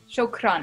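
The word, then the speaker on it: شكراً: Do you roll your R? Shukran. It's more like a rolled R a little.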